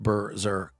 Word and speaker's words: Burger: it great manual dexterity my name is pronounced Burger not Bears Air Care that's some other guy